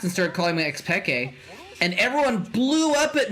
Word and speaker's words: Pekke: went on cast and started calling my ex peke and everyone blew up at me everyone blew